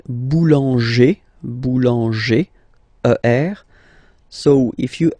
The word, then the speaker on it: boulanger: Then we've got this group, like boulanger, boulanger, ER.